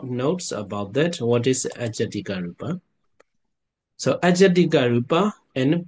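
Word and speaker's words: ajjhattika: Second is the Ijatika Rupa. Yeah, Ajatika Rupa. But the Burmese pronunciation Ijat, yeah, Ijatika, yeah, Ijatika Rupa. But I think international pronunciation is Ajatika Rupa.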